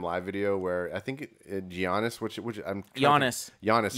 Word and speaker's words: Giannis: video where i think giannis which which i'm honest you don't pronounce the g uh giannis uh what he did